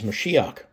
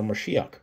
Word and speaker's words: Mashiach: But using 2357 Victor, and we know the pronunciation of 4886 in the Strong's Concordance is Mashiach, right? Or Mashiach, which is also the word for the word Messiah.